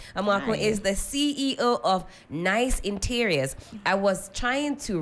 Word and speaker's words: Gneiss: the week Jennifer amaku is the CEO of nice Interiors I was trying to wrap my lips and everything around the pronunciation of this because your this your nice dear it's spell n e i s s